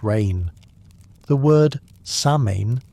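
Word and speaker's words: Samhain: The word sain pronounced sa in means summer's end.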